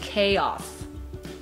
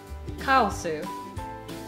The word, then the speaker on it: chaos: give up okay so the english pronunciation of kawasu is chaos chaos i never would have gotten that yeah chaos no so we got to be careful when you're saying kyle sue they wouldn't understand you have to say